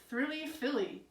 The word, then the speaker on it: Thrilly Philly: You are Thrilly Philly, which rhymes with Lily.